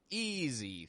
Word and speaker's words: easy: 3 words that we've covered where S sounds like a Z. Easy, thousand, result.